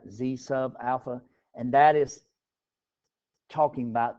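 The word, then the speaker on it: zα: uh notation zalpha is pronounced Z sub Alpha because it's a subscript right Z sub Alpha and that is talking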